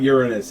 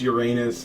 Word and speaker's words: Uranus: a whole messy cycle Uranus was overthrown by his Titan son no dude it's not Uranus it actually is pronounced Uranus okay stop trying to clean